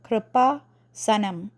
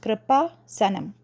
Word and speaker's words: Kreupasanam: that is so um if you read it in North American pronunciation it would be k-r-i-p-a kripa Sanam that is how it is pronounced kripa Sanam okay now where this